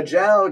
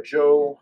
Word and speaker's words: Jiao: A jiao, jiao means wine in Chinese. Jiao, it's actually pronounced.